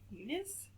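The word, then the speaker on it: Muniz: grilled cheese sandwiches by DEA mun munis it seems like well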